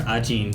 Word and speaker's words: Ajin: There's different ways of pronouncing it, but then the characters, how they pronounce themselves, are Ajin.